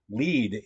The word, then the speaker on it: Lied: uh so is song Lead is this German word for song so that is going to be a song it's a fun it's a fun different pronunciation thing it's regular so we